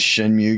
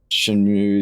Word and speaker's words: Shenmue: The Shenmue games say Mu, but it's probably Mu. Shenmu. We got options. The game are you talking about? Yeah. Yeah. Yeah. Shinmu. And that's probably the right way to say it cuz I don't think MeW is mu.